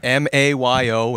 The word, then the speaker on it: Mayo: M-A-Y-O in Spanish is pronounced Mayo. It means the month of May. My family's from Italy. It's pronounced Mayo, spelled M-A-I-O.